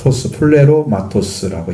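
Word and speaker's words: πληρώματος: 그러니까 이것은 소유격 단수로서 플레로마토스라고 읽으면 됩니다.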